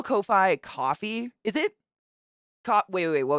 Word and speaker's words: Ko-fi: Kofefe, my god. To some. I suspect it's pronounced like coffee because I see a lot of people shout it out by saying, buy me a coffee.